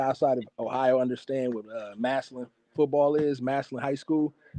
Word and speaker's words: Massillon: Massillon. Massillon is how you. Massillon is how you pronounce it.